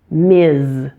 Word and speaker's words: Ms: it's a bit awkward MS it's pronounced with a Z at the end MS foster MS Ramos